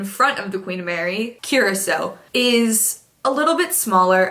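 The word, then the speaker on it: Curaçao: I always want to pronounce it Curacoa, but I know that's not right, so here it is. Curacao. I was so off. Curacao. I'm sure that's not right. Look at how it's spelled. The ship that traveled in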